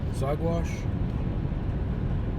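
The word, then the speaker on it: Saguache: Headed up to, I think it's pronounced Zagwash.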